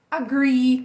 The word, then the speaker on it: agree: Agree, que tem dois S no final. Acne, que é acne mesmo, tem E no final e a gente vai pronunciar.